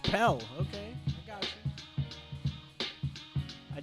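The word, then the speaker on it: Pelle: It's just Pell.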